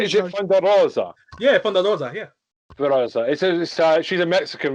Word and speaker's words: Thunder Rosa: Yeah, Thunder Rosa, yeah.